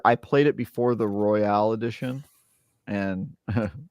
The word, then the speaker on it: Royal: played it before the Royale Edition and Ro it's just Royal it's not Royale it's Royale with cheese